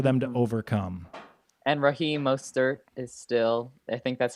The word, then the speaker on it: Mostert: You nailed the OE vowel combo, which can be a little intimidating.